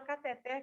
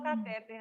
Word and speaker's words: cateter: Comentei sobre isso pela pronúncia da palavra cateter que eu descobri ontem. Mas todo mundo fala catéter, né? Já caiu no gosto de todo mundo aqui a palavra catéter.